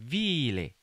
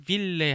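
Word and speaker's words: ville: 빌레. 발음 하나 조심하세요. 빌레 하지 마세요.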